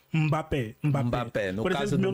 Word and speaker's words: Mbappé: é que o brasileiro fala Mbappé, né? O M não se lê. O N é sempre mudo. Quando você vai falar uma palavra africana. Tipo, é Angola. N-G-O-L-A. Tá. O N não se lê, é mudo. Na verdade, é nasal. É nasal. Nasal. Mbappé.